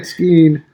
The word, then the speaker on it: skein: Everybody say skein. Skein. That's how you say it, Skeen.